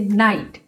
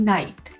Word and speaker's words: night: और इसी तरह से नाइट, NIGHT नाइट, लाइट, LIGHT लाइट, CAUGHT कॉट।